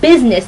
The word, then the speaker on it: business: throw words at like business and busy at you. Busy and business. They have the words U-S, which sounds like us. But suddenly we're pronouncing it like I-Z.